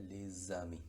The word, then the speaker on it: les amis: Les amis, la liaison es entre esa S y la A. La pronunciación sería les amis, sonido de S, les amis.